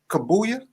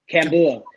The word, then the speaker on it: Kambua: Kabuya? Kambua.